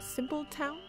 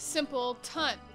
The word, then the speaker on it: Simpletown: You come from a place called Simple Town? No, it's only spelt like Simple Town. It's pronounced Simple Tun.